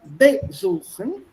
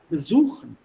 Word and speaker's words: besuchen: So it's not besuchen, besuchen.